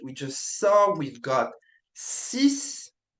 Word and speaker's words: six: So, we've got sis sis sis.